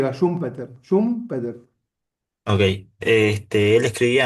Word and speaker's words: Schumpeter: y es un Peter, no sé bien cómo se pronuncia. Sí, sí, Schumpeter, como nosotros lo decimos con con Y, Schumpeter, Schumpeter.